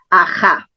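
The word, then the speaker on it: Aha: También se escribe A-H-A porque se escribe en egipcio, en jeroglíficos egipcios, pero la fonética del nombre está registrado en el runa Simi, Aja.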